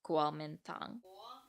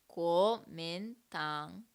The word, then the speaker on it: Kuomintang: the Kuomintang, or to hear me try to pronounce Kuomintang. Kuomintang. I'm not getting that first syllable. Kuomintang. Kuomintang.